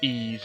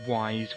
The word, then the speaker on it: Ys: the letter Y there it's actually pronounced EES not wise which is what I